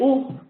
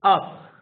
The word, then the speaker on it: up: a sound this is the up sound up like the word up you don't say oop you say up so you you you